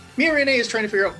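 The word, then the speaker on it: Miorine: Meanwhile, Mirine, who, by the way, some of the characters do call her Mirin, so I think it's one of those Japanese, accent type things, whether or not you pronounce the E at the end.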